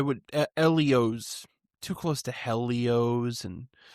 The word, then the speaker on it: Ellio's: talk about the company, Helios? Yeah, this has been around since 1963. Uh, Long Island Company. Uh, did you know, Max, that it could actually be pronounced Elios or Elios?